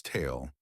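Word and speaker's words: ت: It represents a clear t sound, similar to the t in the English word top, just like ba.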